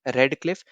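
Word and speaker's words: Radcliffe: पहला तो यहाँ पे RAD करके आपको यहाँ पे याद रखना है, रेड क्लिफ। या फिर कहीं कहीं आप यहाँ पे ज्यादातर तो ऐसे आप देखोगे रेड, जो आपको कलर वाला जो स्पेलिंग होता है रेड, इसमें बेसिकली हम लोग बोलते हैं इसको रेड क्लिफ।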